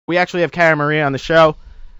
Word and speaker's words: Cara Maria: Wait, what's my name? Carara Maria. Say it again. Carara Maria. Cara Maria. Car. Car Maria. I'll start the interview with like how to say my name. Cara Maria. Car Maria. There you go.